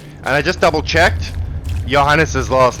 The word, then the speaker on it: Johannes: What was Johannes's last name? Because even though it's pronounced Johannes, it begins with a J.